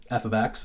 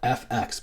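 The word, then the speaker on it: f(x): dependent variable and describe the relation for example F ofx = 2x so this is basically that the Y value here F ofx and then this is the formula that you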